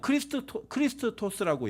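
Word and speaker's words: Χριστός: 찾아가면서 하나나 보도록 하겠습니다이 고대 그리스어로는 크리스트 토스라고 얘기해요 발음 자체를 우리가 좀 비슷하죠 그리고 재밌는게 뭐냐면 영어권에서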